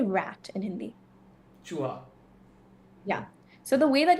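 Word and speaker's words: चूहा: Chuha.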